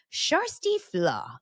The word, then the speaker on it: Kjersti Flaa: second part of a two-part series with journalist sh FLW you wonder what that name is yes I